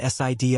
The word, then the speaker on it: SID: "All right, we're going to take the me and SID up first," he said, pronouncing the acronyms as Emmy and Sid.